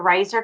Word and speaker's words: Riser: And see, the company, the Riser company, it rhymes with Razor, also is owned by another company.